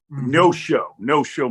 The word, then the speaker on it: Neosho: I'm pronouncing that correctly, correct? Neosho. Okay. No-show, Missouri.